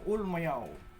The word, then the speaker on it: Ulmayaw: Ang tamang pagbigkas ay sa Ulmayaw.